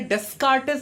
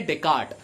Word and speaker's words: Descartes: Nami Rene Descartes the the spelling of this is such that child Hamas to pronounce s occurring here in a desk artist but when a desk artists is the wrong pronunciation hoon Konami soprano no